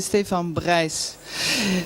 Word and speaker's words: Stefan Brijs: façon de Alors là, il faut le prononcer Stefan Brecht. Je sais que vous êtes Brice. Vous dites Brice comme vous dites Digraaf, mais c'est pas grave. Mais si on veut le prononcer correctement, c'est Stefan Brecht.